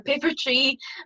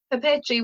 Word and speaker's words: papeterie: You know, the papeterie, people think it's paper tie or paper tree, but it's papeterie, which is the French word for stationery.